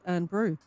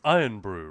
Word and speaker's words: Irn-Bru: That's not how you say it. I don't think. Well, maybe Lena Elvira will correct us here. Or if Guns N' Raiders is about. It's Iron Brew, right? It's supposed to be.